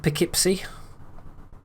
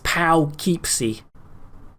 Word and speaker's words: Poughkeepsie: evil tim appreciated mr poughkeepsie wait no i said i said that wrong it's pow keepsie that's how you say it right yeah i've been